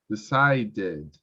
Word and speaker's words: decided: you pronounce ed is when the verb has a t sound t r d sound t r d for example want then pronounce wanted that case yes correct when you pronounce decide cited decided okay in that case when you have t in the sound you pronounce idi this is the only exception yeah i wanted to